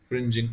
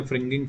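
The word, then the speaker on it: fringing: नाम पूछा जाता है फ्रिंजिंग। कुछ बच्चे गलत प्रोनाउंस करते, फ्रिंगिंग, फ्रिंगिंग नहीं है बच्चों, फ्रिंजिंग ऑफ द फील्ड।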